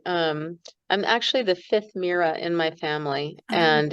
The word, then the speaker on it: Myra: And I um I'm actually the fifth Mera in my family and it's a family name and it's spelled unusually. It's m y r a but the y is pronounced like a double e.